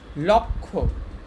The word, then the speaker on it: লক্ষ্য: লক্ষ্য, যখন একটা ক্ষিয় আছে এটার উচ্চারণ হচ্ছে ক আর খকার, লক্ষ্য, লক্ষ্য।